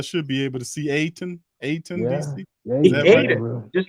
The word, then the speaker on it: Ayton: uh help from d.c just put a d right there like stop trying to sound that y out and all the way and aidan ay deandre all right